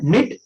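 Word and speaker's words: knit: निट, निट माने बिनना होता है, के साइलेंट है क्योंकि एन आया है, और इसमें देखो जी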